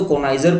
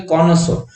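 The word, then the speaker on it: connoisseur: जैसे कि आप, हम तो कॉनाइजर पढ़ रहे हैं, मतलब इसकी प्रोनाउंसिएशन जो करेक्ट होती है वो होती है कॉनोसो।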